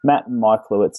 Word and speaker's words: Michalewicz: You may have noticed that my Polish pronunciation isn't quite all it could be, and I made a slight error in pronouncing his name at the start, but Matt Michalewicz is the way to say it, and I hope he